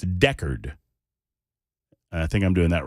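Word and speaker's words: Decherd: answer is no and thank you for the pronunciation guide from Grant and from 2862 and from others like 1087 it's Deckard I think I'm doing that right Nick says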